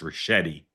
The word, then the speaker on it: Ricchetti: Okay, I will politely and gently tell you his name is pronounced Ricchetti.